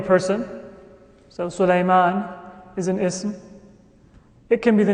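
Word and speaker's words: اسم: A noun in Arabic is known as ism. Notice the pronunciation. The sin has a sukoon. Ism. Ism, not ism.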